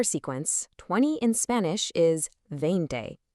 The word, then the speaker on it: veinte: In Spanish, a V at the beginning of a word usually sounds a whole lot like a soft English B, so it's veinte, not a harsh veinte